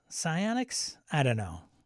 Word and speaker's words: psionics: it's not melee yeah it's pessionics psionics not Sonics psionics I don't know it's